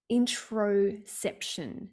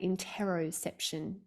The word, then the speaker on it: interoception: There's a concept called introception. Now, some people say it interoception, depends on how you pronounce.